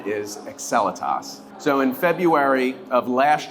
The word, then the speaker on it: Excelitas: trying to figure it out so the correct pronunciation is excelitas so in February of last year fion was